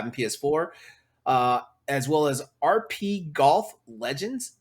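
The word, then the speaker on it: RPGolf: PS4, as well as RP Golf Legends. It's spelled RPG and then OLF, RP Golf Legends on PS5, PS4, and we also have Windjammers 2 for PS4.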